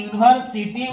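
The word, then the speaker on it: university: लेकिन य कसनेट है लेकिन हम इसका उच्चारण करेंगे तो जब उच्चारण करेंगे तो यूनिवर्सिटी यन आएगा और यह जो है वो क्या है कंसोनेंट है इसीलिए इसके पहले भी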